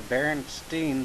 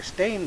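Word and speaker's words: Berenstain: baron stein bears although apparently I have been saying it wrong my entire life apparently it's the baron St or stain Bears uh spelled with a a i n not an e i n now I can clearly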